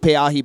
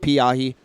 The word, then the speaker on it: Pe'ahi: That's pronounced Pe'ahi, by the way, not Piahi.